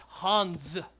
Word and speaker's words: Hans: Yeah, it's fucking German. It's Hans. Say it right, boys.